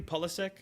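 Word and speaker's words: Pulisic: Pulysick.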